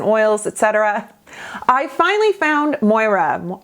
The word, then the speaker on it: Moira: Etc I finally found Moira Moira I want to say it like Moira like on schitt's Creek um the more Cosmetics